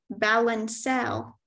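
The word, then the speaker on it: balancelle: Your word is balancel.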